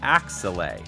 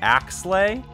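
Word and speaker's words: Axelay: unfamiliar with growing up I always thought it was called axle but now I'm hearing it's just ax slay that just sounds kind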